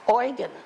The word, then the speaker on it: Eugen: Ernst, this is pronounced Eugen, E-U-G-E-N, Eugen Peltzer.